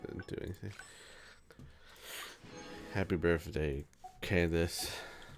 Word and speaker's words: Candace: Happy birthday, Candace. Or Kandake, as I've heard it's actually pronounced. But the game says Candace, so I'm just gonna keep calling her Candace.